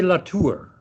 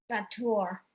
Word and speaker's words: Latour: Well, I always say Latour. Latour.